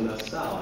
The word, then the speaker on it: Nassau: It looks like Nassau as in the Bahamas, but he pronounces it Nassau, I believe.